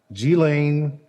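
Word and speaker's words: Ghislaine: couple times i want to make sure i pronounce her name correctly g-lane maxwell is now in federal custody um number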